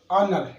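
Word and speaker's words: honour: देखो ये वर्ड मैंने यहाँ लिख दिए, ये एच से तो स्टार्ट है, बट एच इन B silent and just after a letter H, इनसे साउंड हमारा शुरू हो रहा है, क्लियर।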